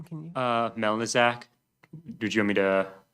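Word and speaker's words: Melnicżek: Melnizak. Did you want me to spell it?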